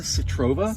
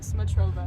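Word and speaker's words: Smotrova: So Citrova? Smatrova. Smatrova. Yeah.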